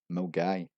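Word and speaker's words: Milngavie: And at number 5 we have the infamous Mulgavi, which is actually pronounced as Mulgai.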